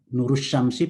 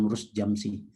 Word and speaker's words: Nurus Syamsi: Saya Nurus Syamsi, Pak ya, bukan Nurus Jamsi.